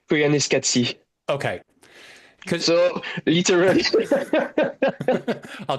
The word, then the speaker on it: Koyaanisqatsi: How do I pronounce the name of the movie? Uh, I don't know, but I pronounce it Koyaanisqatsi.